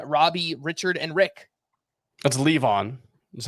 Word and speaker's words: Levon: Andrew High Lavon Robbie Richard and Rick let's leave on that's how you pronounce this and this is the band oh